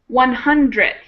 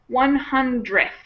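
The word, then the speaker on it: hundredth: So that one kind of gets squished together. There's no extra vowel there. 100th. And you kind of don't pronounce that last d. Sometimes people do, but most of the time it just gets squished into the th sound.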